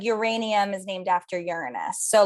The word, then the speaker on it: Uranus: Also, I just learned that you pronounce it Uranus, not Uranus.